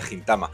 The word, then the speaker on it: Gintama: que escuchaba que decía gintama Bueno pues creo que lo correcto es gintama por si alguien haba